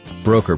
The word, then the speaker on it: Broecker: greenhouse known as Earth Broker pronounced broker regretted he could not